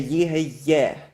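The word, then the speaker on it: יהיה: In Yehayeh, that yod is a consonantal yod, and you pronounce it together with this segol, and that's the vowel letter of the segol, and you say Yehayeh.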